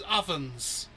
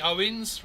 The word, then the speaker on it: Owens: Oh, is it Owens? I thought it was Ovens. All right. I was being a dick getting his name wrong. I I could have sworn it was Ovens. Oh, it is definitely Owens, right?